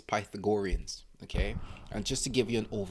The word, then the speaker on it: Pythagoreans: mix it up but to say it properly it's pythagoreans okay and just to